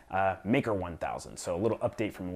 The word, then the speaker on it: MKR1000: talked about what I referred to as the mkr 1000 I did not realize the uh mimo from Arduino released a video this week uh it's pronounced maker 1000 mkr maker I mean I don't know I